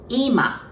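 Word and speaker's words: 今: say now we say IMA IMA so it's almost like it goes down the accent goes on the first part okay if you want to say it as a living room we say IMA IMA so it goes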